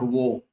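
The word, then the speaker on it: Waugh: very famous uh this cricketers Steve V Mark vo w a g h they are written as vag but they are pronounced as V Pia C C Sound also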